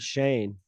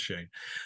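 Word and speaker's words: Chane: name Chan chain Shane it's like Shane but with a c right yeah but they pronounce it Shane okay all right so it's Shane uh Bill runs up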